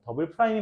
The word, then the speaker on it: 더블 프라임: 이게도 함수라고 하는데 우리가 일반적으로는 더블 프라임이라고 해요. 더블 프라임. 근데 사실 나 대학교 때는 투프라임이라고 했거든 교수님이 상관은 없나 봐. 네. 일반적으로 더블이 맞대요. 더블 프라임이 맞는데 더블 더 두 번 했다는 거지.